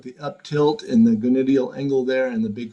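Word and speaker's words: gonydeal: And then what about the gonadial angle? Right down there. And how do you pronounce it again? It's gonadial.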